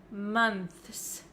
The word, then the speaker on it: months: difficult to pronounce right we can pronounce this word as months months if you want to say the th sound clearly plus the S and that is really difficult for some English learners